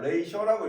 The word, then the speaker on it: ratio: 이게 왜냐면 라틴어에서 나온 녀석이거든. 엄밀하게 영어가 아니고 라틴어에서 이제 파생된 거라 발음 교가 약간 이제 영어랑 다릅니다. 나중에 고등학교 필수 영어 단어 중에 하나니까 외워두세요. 자, 레이셔라고 읽고 얘는 이제 뜻이 뭐다?